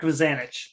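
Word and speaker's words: Mazanec: Marek Mazanik or Mazanich. Oh, Marek. Yeah. Marek Mazanich.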